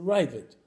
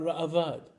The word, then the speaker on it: Ra'avad: The point is, for Ashkenazis, the way you pronounce it is the Ravid.